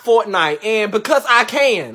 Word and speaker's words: Fortnite: So why was you up late last night playing forklift? Fool, it's pronounced Fortnite.